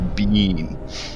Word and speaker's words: Biehn: I'm gonna have to correct your pronunciation as well it's Michael Biehn Michael is that what